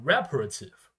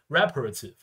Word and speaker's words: reparative: power speech okay yeah reparative yeah okay very important reparation but yeah okay once it become an adjective yeah we need to put answers on first syllable okay reparative like rating two will